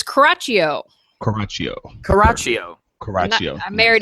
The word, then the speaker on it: Coraccio: Now, how do we pronounce your last name? It's Coraccio.